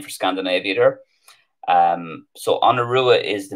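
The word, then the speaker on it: An Iorua: Oh, it's on Urua. So let me just see. On Urua. That's the Connacht pronunciation. On Urua.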